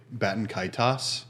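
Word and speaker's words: Baten Kaitos: There is no set way to say it, but I say Batankaitos.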